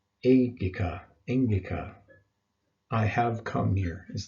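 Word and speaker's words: ἤγγικα: Remember when you've got two gammas together like that, it forms an NG sound, like the word angel. We don't say engel, we say angel. So you want to pronounce this engika.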